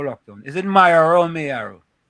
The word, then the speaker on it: Mayo: It had to be It's not Myo, it's Mayo. Mayo. Yeah, it's Mayo. M A Y is Mayo.